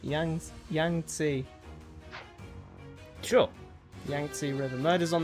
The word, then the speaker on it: Yangtze: Yangtze.